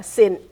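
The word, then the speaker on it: Sinh: Yeah, Sin.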